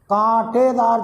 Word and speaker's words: कांटेदार: यहाँ केवल कुछ कांटेदार झाड़ियाँ, कांटेदार झाड़ियाँ, उच्चारण ध्यान दीजिएगा, क पर चंद्र बिंदु है, कांटेदार झाड़ियाँ उगती है।